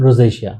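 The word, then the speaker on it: rosacea: है कि नहीं लगाना शिया होता है रोशिया होता है रोशिया जी मैं मिस प्रोनाउंस कर रहा था तो वो क्या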